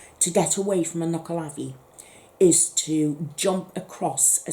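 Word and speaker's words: Nuckelavee: way it will kill you so that's the knuckle avi and it's u c k e l a v e e that's how you spell that knuckle lavi and um oh yes and the only way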